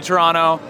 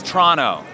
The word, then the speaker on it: Toronto: I've never been to Toronto. I didn't know how to pronounce it before I got here. It is Toronto. Toronto. You don't pronounce the second T, it turns out.